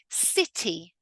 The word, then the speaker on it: city: If I'm going to pronounce it with a full emphasized T, I would say city.